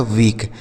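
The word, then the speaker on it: weak: क्या लिखा है आगे डब्ल्यू ई ए के तो डब्ल्यू से हो गया आपका व इ ए का उच्चारण अभी हमने आपको बताया बड़ी ई की मात्रा और के से बन गया क यह लिखा गया वीक।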